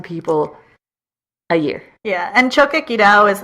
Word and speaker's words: Choquequirao: And there's also, excuse my mispronunciation, the Choquequirao? Choquequirao.